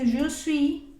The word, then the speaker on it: suis: y estar para decir je suis. De nuevo, esa S al final no se pronuncia.